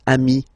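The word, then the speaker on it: amis: form Ami plural form you add this s but it's Ami as well okay in that case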